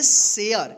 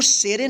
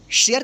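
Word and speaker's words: share: English के word में ए के जस्ट बाद यानी लास्ट में आर इ रहे तो इस ए का उच्चारण क्या होगा एय होगा ठीक है इसलिए यहां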